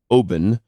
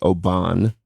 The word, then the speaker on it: Oban: couple years ago I was at what is pronounced Obin which we would say Oban the scotch I was just sitting out looking